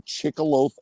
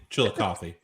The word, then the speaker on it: Chillicothe: I just went out to Chickaloaf, Ohio, right? Chillicothe. Chillicothe. Okay, Chillicothe. How the hell do you know the pronunciation of that town?